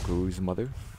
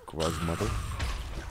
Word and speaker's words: Gruz Mother: Because I say Gruz mother because I pronounce, you know, I pronounce it Gruzzers, the little flying enemies in that big central room. So, you know, Gruz is sort of like a derivative of that.